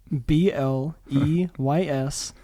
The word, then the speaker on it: Bleys: You say it B-L-E-Y-S, Bleys. Bleys. It sounds like B-L-A-Z-E, but it is B-L-E-Y-S.